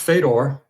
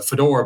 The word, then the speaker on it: Fedor: it and um yeah it's uh so it's pronounced Fedor in my family and then I grew up we moved to Canada when I was five and and it was pronounced Fedor by my teachers and my friends all the